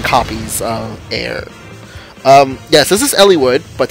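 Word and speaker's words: Eir: Still looking for that air. Or, yeah, it's ear. Ear? Air? It's E-I-R.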